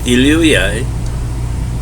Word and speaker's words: Elohai: Instead of Elohim, it's Elohai, Israel.